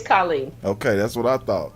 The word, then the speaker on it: Colleen: I don't know if it's Colleen or Colleen. It's Colleen. I said it's Colleen.